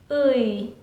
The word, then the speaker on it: 의: Lots of foreigners cannot pronounce this one. 의, 의, 의. So 의사 means doctor. 의, just to sound this one first.